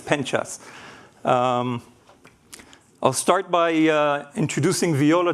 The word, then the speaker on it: Penchas: My last name is actually pronounced Penchas, which is after a small village in Spain. When I grew up in the States, my classmates used to make jokes on me and call me pinch ass. So that's not my name, it's Penchas.